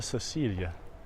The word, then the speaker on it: Cecilia: around here via Villa Cecilia and make that soft see instead of a chess sound berries hours foreign